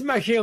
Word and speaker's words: Machiel: well you pronounce it it's a dutch name it has a jewish